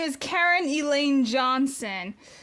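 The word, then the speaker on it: Caryn: Her real name is actually Karen and it's spelled C A R Y N.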